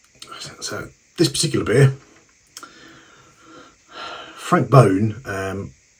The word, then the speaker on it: Boon: this particular beer Frank bone um it's it looks like it should be Boon in English but that's how it's pronounced in uh in Flemish and Creek is the